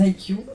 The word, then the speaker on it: haïku: Et en plus de la poésie, me semble-t-il, vous faites aussi des haïkus. Je ne sais pas si c'est comme ça qu'on prononce. Exactement, des haïkus, des haïkai au pluriel, notamment.